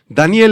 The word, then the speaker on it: Daniel: Daniel en hebreo, Daniel, se pronuncia prácticamente igual en el idioma hebreo y quiere decir Dios es mi juez.